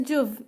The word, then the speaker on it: Juv: It is Juv. Yes, you are pronouncing it correctly. Juv, right?